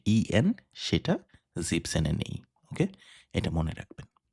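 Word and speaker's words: siebzehn: তাই 17 equal to জিপ সেন। সি জিবেনের যে ইএন সেটা জিপসেনে নেই।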